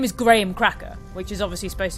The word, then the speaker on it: Graham: second of all we don't pronounce the name Graham we pronounce it Graham so it's grae but it really puts me off at everyone in this game is is calls him Graham um what all do I do this then